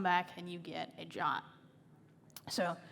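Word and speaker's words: JWT: the first is kind of identifying what a jot is don't ask me why it's spelled jw2 in pronounced drop can't find any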